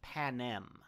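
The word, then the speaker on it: Panem: hunger games no sorry I slightly mispronounced that it's Pan Am okay p-a-n-e-m right on um but yeah for the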